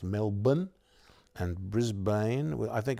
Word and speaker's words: Melbourne: like melbourne is pronounced melbourne and brisbane well i think it was never pronounced brisbane but brisbane australians like to drop as many syllables as they can and just a few